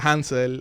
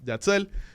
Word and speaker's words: Jatzel: Hay gente que me dice Hansel, hay gente que me dice, Alberto, que tiene ya más de 10 años conociéndome, miren cómo está pasando lucha mencionando mi nombre.